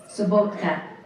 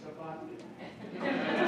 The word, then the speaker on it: Sabatka: If you're in Europe, it would be pronounced Sabotka. Sabotka. But in America, it's Sabatka.